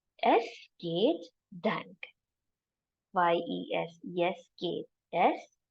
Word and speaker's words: es geht: It says es geht dank. Y-E-S, yes, geht. Es geht dank. This is the pronunciation tip. How to remember? You're saying yes to a gate and thank. Yes, gate, dank.